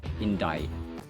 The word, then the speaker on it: indict: but it's indict indict letter C is unvoiced in Dai and indictments all right